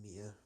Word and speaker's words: Mia: I'm pretty sure M-I-A is Mia, pronounced Mia, and Maya is M-A-Y-A. I could be wrong, but I'm pretty sure it's how it's pronounced.